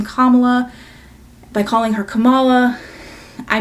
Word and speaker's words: Kamala: cannot simply remember that her name is pronounced Kamala.